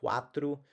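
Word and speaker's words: quatro: When you look at quas, just like in the word quack or in Portuguese the word like the number four quatru, then naturally you're going to have a different sound. It's going to be more of a www sound.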